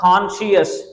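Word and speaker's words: conscious: एसन एसन ठीक है उसके बाद कॉन्शियस कॉन शियस यहां पर सी साइलेंट है कॉन्शियस जिसको आप होश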